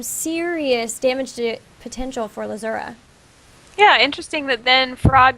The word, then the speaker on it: Lzuruha: lazura is that am I saying it correctly lazura yeah really interesting a lot of times we